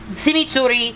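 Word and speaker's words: tximitxurri: Chimichurri, the etymology of chimichurri sauce probably comes from the Basque, in the Basque language, it would be Chimichurri, which is spelled T-X-I-M-I-T-X-U-R-R-I, and loosely translated, it is, quote, a mixture of several things in no particular order.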